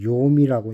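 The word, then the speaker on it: יוֹם: 낫은 히브리어로 욤이라고 읽네요.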